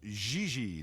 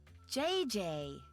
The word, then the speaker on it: Gigi: JJ. En français, you pronounce G like J and J like G. She may very well be JJ in America, but in France, she is Gigi.